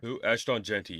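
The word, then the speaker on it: Ashton Jeanty: a Heisman candidate in Ashton and um or ashon how do you say his gosh Dar name I'm never gonna remember this kid's name ashon jenty yeah ashon yes thank you like you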